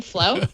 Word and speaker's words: Flo: Android Oreo go uh-huh which rhymes with my name flow yeah it was first